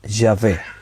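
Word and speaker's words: Yahvé: decir que concluyeron que la pronunciación original la más exacta para este nombre de dios sería llave esa sería la pronunciación correcta si ave entonces qué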